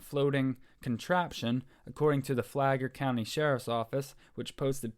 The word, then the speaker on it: Flagler: It looks like Flagger, but it says Flagler.